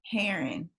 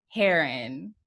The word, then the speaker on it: Herron: Herron. Heron. I want to say it's like a bird.